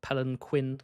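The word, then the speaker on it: palanquin: the crown and armor, it could be a palenquin palenin. How to pronounced in in the books? It's a pelenquin.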